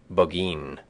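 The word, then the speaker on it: Burgoyne: He pronounced it boin which my informant used to borrow.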